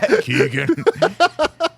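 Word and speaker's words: Keoghan: good ones uh Barry Keegan uh anyways but Keegan oh yeah that's how you say it yeah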